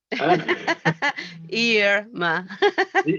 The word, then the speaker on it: Irma: Irma. Irma, yes. Sorry, I learned to pronounce Irma's name yesterday correctly because I've been